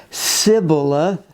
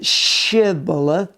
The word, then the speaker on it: shibboleth: right say shibboleth and since the people of ephraim could not pronounce it properly they said sybilla rather than shibboleth then they were killed